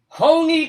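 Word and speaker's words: Hoehne: damned where honey what we're going to honey honey colorado h-o-e-h-n-e it's not you know how coloradans pronounce things really it was like a german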